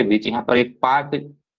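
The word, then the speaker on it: Palk: हिंदी में इसको हम पाक पढ़ते हैं। ठीक है? ऐसे लिखते हैं पाक है लेकिन स्पेलिंग पी ए लिखते पी एल के ये भी आपको ध्यान में रखना है कि भारत और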